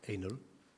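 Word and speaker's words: ANL: dont la plaque d'immatriculation est Anel a n l qui se prononce Anel quand on le lit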